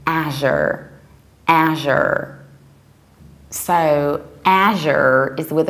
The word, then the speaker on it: Azure: British accent we also go to something like Asia more than as you are or as you ER so the British accent we say Asia and in the American I would say Asher Asher so Asher is with a very broad